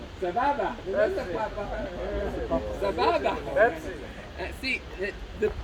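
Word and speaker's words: סבבה: Most of you would say with a B and not with an F or a P. No P. No P. How do you say Sapapa? Sababa.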